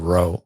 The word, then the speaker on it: Rowe: Yeah, so Vernestra Rowe, is that how we pronounce her? R-W-O-H, Yep, Rowe. Rowe. Mm-hmm.